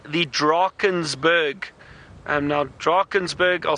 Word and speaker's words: Drakensberg: Now, Drakensberg, I'll spell it for you, D-R-A-K-E-N-S, Drakens, and Berg, B-U-R-G, or that's Drakensberg, or B-E-R-G, Drakensberg. It depends if you Afrikaans or English.